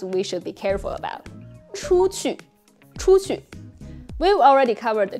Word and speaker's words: 出去: It can easily be pronounced as 出出, 出出. Because they seem to both use U.